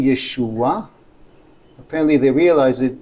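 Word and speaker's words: ישוע: wrote here yeshu you there are two ways to pronounce jesus in hebrew and aramaic yeshua yeshua apparently they realized it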